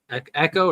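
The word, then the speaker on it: Ekko: it's really good Ryan said Justice for E echo or Eco how do you say that Echo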